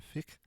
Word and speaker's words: fiqh: Muslim scholars and jurists continue to debate the boundary between Sharia and fiqh. I think I might be pronouncing that wrong.